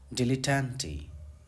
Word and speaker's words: dilettante: मुताबिक पढ़ रहा था, इसका एग्जैक्ट प्रोनाउंसिएशन है डिला। ठीक है, डिलेटेंटे, डिलेटेंटे।